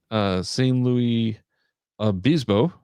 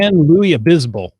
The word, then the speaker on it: San Luis Obispo: He planned and published an Adventure Lab in St. Louis Obispo which I probably just butchered, and I'm sorry about that. San Luis Obispo.